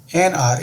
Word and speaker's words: hour: ही returned after NR। इसको जो बोलते हैं, प्रोनाउंस करते हैं, H वहाँ पे साइलेंट होती है।